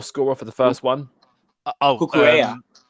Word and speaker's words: Cucurella: How do you pronounce the Chelsea goal scorer for the first one? Cucurella. Cucurella.